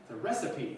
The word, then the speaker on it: recipe: it's actually no totally you're actually pronouncing it like an American might see it it's a recipe person recipe yeah recipe yeah maybe it's the